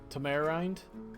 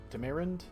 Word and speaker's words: tamarind: as Oceana the uh Tamara rind tamarind I never pronounced that right Tamarind yeah that might be it that sounds right really okay that looks